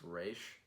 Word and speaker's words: Ra's: race I was like it's supposed to be pronounced race the people I say it Roz so the spelled Kevin